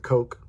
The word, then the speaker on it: Koch: I think they may pronounce it Coke. They may pronounce it Coke Tools, I think.